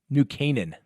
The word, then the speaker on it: New Canaan: think I wanna pronounce this correctly because I mispronounced it in my first video new new new Ken New Canaan New Canaan you know I think there's two